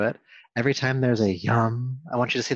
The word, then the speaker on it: Yam: And the Bija Mantra, or seed sound, of the heart center is Yam. It's spelled Y-A-M, but it's not Yam, it's Yam.